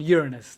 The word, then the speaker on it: Uranus: actually had a homemade telescope and they found uranus that's how you pronounce it anyone sorry susan's laughing now uranus